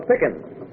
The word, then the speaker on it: Pickett: this is Miss Lola Pickett. Rhymes with chicken.